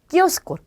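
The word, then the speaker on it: kiosco: 네, 자 가판대가 있는데 그 가판대를 스페인어로 키오스코 라고 합니다. 그래서 여러분들 보시면 키오스크라는 말 들어보셨을 거예요. 그거의 스페인어가 키오스코라고 해요. 여기 있는 이가 발음이 돼야 되기 때문에 끼로 발음을 하시면 되겠죠.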